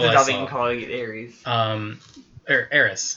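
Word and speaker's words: Eris: Aris. Her name's Aris. It's called Aris, but everyone was pronouncing it Aries though.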